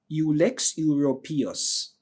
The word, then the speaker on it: Ulex europaeus: It's called ULEX, ULEX, and Euro, PAEUS, ULEX europaeus. All right, that's how we normally pronounce it, but if you have a different pronunciation, please use it.